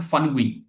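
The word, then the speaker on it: Phawngpui: इज इन एक जगह है जिसका नाम है फनगुई पी एच ए डब्ल्यू एन जी यू I spelling देख लेना फनगुई है ना कि कहां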